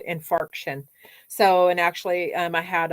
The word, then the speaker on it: infarction: that's when I call them fraction I'm not mispronouncing it it's called infarction so and actually I had a uh blood